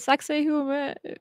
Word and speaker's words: Sacsayhuaman: Is it Sacsayhuaman? I don't know how you pronounced it. Sacsayhuaman. Like sexy ramen.